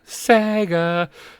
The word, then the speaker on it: saiga: Is it SA Sega? Sega saga. Saiga.